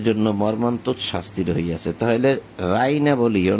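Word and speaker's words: رَاعِنَا: রাইনা এখানে বলছে রাইনা, রাইনা এখানে আরবিতে হবে রাইনা।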